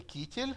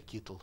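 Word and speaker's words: קיטל: Здесь шва, поэтому некоторые китель, некоторые китл произносят.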